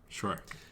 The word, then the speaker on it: Schreck: Like Shrek. Spelled differently, okay. But as far as I can tell, I don't know how else I'd pronounce it. Shrek.